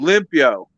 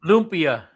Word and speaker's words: lumpia: Oh, Limpio. Lupia. Limpio. Uh-oh. How do you pronounce it, Eddie? Lumpia. Lupia. Lupia? Lumpia. Yeah, it's an A at the end, not an O.